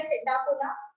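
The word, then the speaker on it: Psittacula: Then parrot के लिए P silent है, सिटाकुला पैरेट।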